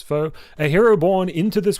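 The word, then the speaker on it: Foa: all players fo uh which is f o a but it does say in parentheses here pronounced as foe a hero born into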